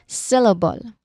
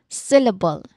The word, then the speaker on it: syllable: The first syllable is sill. Sill. And this particular syllable is what do you think? It's stressed or unstressed from how I say it. Syllable. again. Syllable. Is it stressed or not? What do you think? Yes, it's um it's actually stressed.